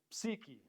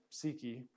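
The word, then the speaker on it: psyche: how you spell it seeky p s y foreign psychology seeking this is the the we say we're not going to use the Greek's first letter P we're going to drop that and say it's silent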